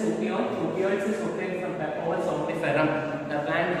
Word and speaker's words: Papaver somniferum: Opioids is obtained from Papaver somniferum. The plant, how we have to pronounce, have to keep it in mind. That is Papaver somniferum.